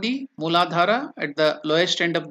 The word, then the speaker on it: Muladhara: slide so you can now chant that name muladhara the lowest chakra then the next chakra is